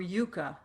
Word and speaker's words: yucca: which is yucca, or yucca is the pronunciation.